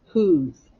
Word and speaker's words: whose: many sounds three sounds whose here we go let's map it the w silent but we do hear the h the o makes the